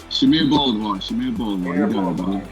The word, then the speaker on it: Shamir Bolivar: Shamir Bolivar.